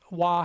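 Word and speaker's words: は: Ha is pronounced W. Wah here.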